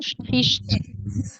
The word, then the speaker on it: sprichst: Difficult to pronounce. Sprichst. Sprichst. So you touch the back upper part of your mouth with the tongue in the back, and then afterwards you have the st in the front.